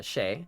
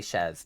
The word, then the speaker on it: chez: One one of my old nicknames is uh Shay like home. Like the French word for home. ChemX is shezzmeck is pretty peak. It is. It's supposed to be pronounced shay but like I just say chez because um it works better with checks.